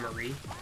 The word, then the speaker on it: Marie: like, see Callie and Mari do their little news broadcast again. But I do... Instead I'm of pretty sure it's pronounced Callie and Marie. Callie and Marie. yeah. Well, the joke is calamari.